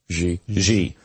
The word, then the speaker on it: Xi: President, is it Xi? Is that how you say his name? Xi.